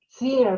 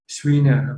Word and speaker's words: Schweiner: Yes, the E is following the I, but the E is not audible. It's like a long E.